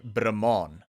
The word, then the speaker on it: Brahman: lot so i i'm i'm probably gonna pronounce this bremen and the reason is the only way i know to pronounce this cow the species of cow is in my native my home language and we say brahman so these are very